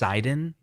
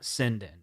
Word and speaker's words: Sinden: And by the way, it's pronounced Sinden, not Sinden.